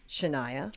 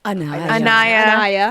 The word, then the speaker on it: Anaya: So, how would you describe your characters, Shanaya? Anaya. I got Shanaya written here so I pronounce it right. Anaya.